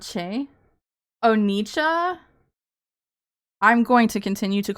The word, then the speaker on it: Nietzsche: What am I mispronouncing? Cha? Not Che? Oh, Nietzsche?